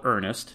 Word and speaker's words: Ernest: and says ernest ryles prefers to be called earnest not ernie and his name is